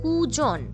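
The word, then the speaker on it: কূজন: এই শব্দটার উচ্চারণও কিন্তু কুজন অথচ এই শব্দটার বানান কিন্তু আলাদা, তাই এর মানেও আলাদা।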